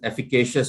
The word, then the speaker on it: efficacious: of the word effective okay efficacious my apologies efficacious is how you pronounce the word efficacious and effective are similar